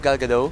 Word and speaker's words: Gal Gadot: Siyempre naman, Gal Gadot is Bay. Wait, is that how you pronounce her name? Gal Gadot?